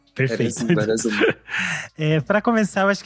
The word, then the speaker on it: Veras I: É assim que vocês pensaram? Veras? Sim. Veras um. Perfeito. Veras um.